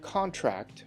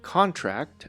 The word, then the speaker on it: contract: The contract will be renewed every 2 years. So this is the noun, contract. Careful not to contract the virus. Contract is the verb. The stressed syllables are in blue.